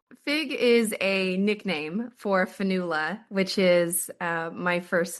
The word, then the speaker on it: Fionnghuala: And uh my first name is spelled with 11 letters and a silent G.